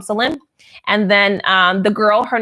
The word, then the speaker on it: Salim: Our son's name is Salim, Salem. His name is Michael Salim. So Salim means peace. It's like Jerusalem. But we just call him Salim.